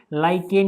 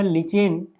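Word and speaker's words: lichen: ये थैलोफाइटा समूह के लाइकेन या लिचेन, है ना, लिचेन या लाइकेन पौधे से निकाला जाता है। बहुत सारे लोग इसको लाइकेन पढ़ते हैं, कौन सारे लिचेन, है ना, जैसे भी आप प्रोनाउंसिएट करना चाहो, है ना।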